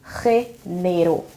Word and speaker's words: género: But the letter G here, the pronunciation is G. It's like with like R, but a little more strong. So G, G, like something here, G. So this word is género.